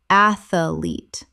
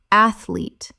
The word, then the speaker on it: athlete: Athlete. Correct pronunciation. Athlete. Two syllables only. The middle syllable does not exist.